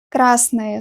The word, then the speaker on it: красное: Красный дом, красная книга, красное слово. I pronounce it like «ая» at the end, красное, even though we spell it like «ое».